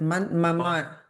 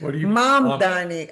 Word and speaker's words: Mamdani: Is it mamarani? No. M A M mama. Okay. Mama. No. How do you say it? Mom D. I just thought you said Danny. It's mom D.